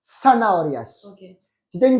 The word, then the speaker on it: zanahorias: Et attention, d'accord, la Z en espagnol se prononce zanahorias.